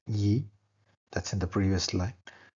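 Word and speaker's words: 一: is beyond the appeared world simple one is pronounced Yi that's in the previous line generated butter party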